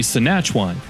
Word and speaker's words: Senachwine: The way to pronounce that name would be Senachwine.